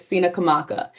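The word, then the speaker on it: Tsenacomoco: spelling but it's t-s-e-n-a-c-o-m-o-c-o a lot of people pronounce it as Cena comococina kamoko it's Cina kamaka it is the land of Chief Powhatan in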